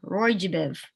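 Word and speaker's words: ROY G BIV: of the rainbow and people often spell it out and say it like a word Roy jiv so that they remember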